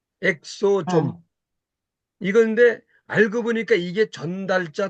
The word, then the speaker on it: 엑소좀: 거니 EXO EXO 있니다 그래서 한국으로 발음이 엑소좀 있니다 엑소좀 이건데 알고 보니까 이게